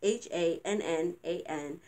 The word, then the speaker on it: Hannan: However, I got an email from somebody, the Hannan Center, not sure how it's pronounced. It's Hannan, and it's in Detroit, Michigan.